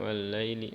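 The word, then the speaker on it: وَاللَّيْلِ: Wal-laili mengayunnya ke vokal i. Wal-laili jangan ke e ya. Suka ada yang ke e. Wal-laili lai jadi e.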